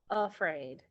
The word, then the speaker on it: afraid: Afraid. So we normally pronounce the first the initial A, as the schwa sound for Look at this word.